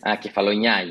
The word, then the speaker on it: Kefalonia: Kefalonia. Is that right? Kefalonia.